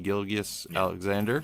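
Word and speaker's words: Gilgeous-Alexander: Gilgeous Alexander.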